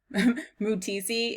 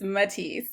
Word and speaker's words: Matisse: buy his creations okay so I've been pronouncing this as mood TC its Matisse I just realized but